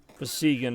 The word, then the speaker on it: besiegen: Besiegen was the secret word. See, well, I know you don't pronounce a G like that in German, but, like, I think of siege.